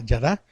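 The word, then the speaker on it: ידע: de su alma Aquí la palabra hebrea es yad es y a de a acento en la a yada que significa saber o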